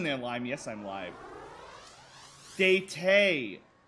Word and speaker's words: Data: Date. Date is how you say his name. The AI part. It's not I. No, if it's spelled D-A-T-A, it's said data.